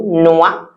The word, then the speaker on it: noix: I know the spelling doesn't even look like that because OR in French sound wa and the X we don't pronounce it. So noix, une noix de coco.